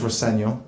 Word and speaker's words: Rosenior: Can just to clear it up, your surname is pronounced "Señor". My dad says "Raseño", which is it is the way to pronounce it, but as long as